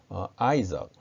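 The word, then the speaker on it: Isaac: 있을 것입니다 어이 사학과 이삭은 아이 석 이렇게 발음합니다 그리고 야곱은 언제 이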